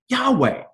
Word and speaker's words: Yahweh: they gave us was the deal ability to pronounce it Yahweh okay why am I talking about this well